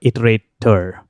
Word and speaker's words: iterator: Not iterable, but iterator.